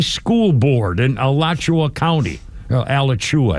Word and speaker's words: Alachua: Alachua, I think it's pronounced.